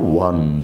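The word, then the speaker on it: won: উচ্চারণের বেলায় আমরা একটু ওয়ান ম্যাচ ঠিক আছে ওন না ও ডব্লিউ এন ওন এর মত ঠিক হবে না খেয়াল করো এটা ইট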